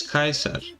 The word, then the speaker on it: Caesar: about you guys but I say it like in classical Latin yeah which is kaisa that's how how you